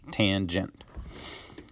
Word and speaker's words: tangent: Since summer is coming to a close here, we're not dealing with tan anymore. We are dealing with tangent, okay, and that is pronounced tangent.